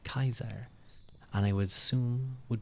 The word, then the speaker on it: Caesar: the C sound so J Julius Caesar name was actually pronounced like Kaiser and I would assume